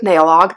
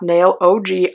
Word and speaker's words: Nailog: And the brand did tell me that you have to pronounce it Nailog, not Nailog. I have asked.